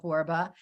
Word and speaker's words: Borba: I'm a 1L Michele, and Borba rhymes with Zorba.